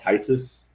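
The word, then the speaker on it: Phthisis: in denver i play in a band called tysus and that's a spelled p-h-t-h-i-s-i-s some people don't know how to like pronounce that band but that's like a more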